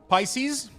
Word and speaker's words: Pisces: sorry how do you say pieces I I pronounce it pieces I have no idea how that word is pronounced is it Pisces Pisces you're safe I'm too lazy to go back